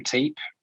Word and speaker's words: Teape: Sorry, yeah, it's Teape, Teep.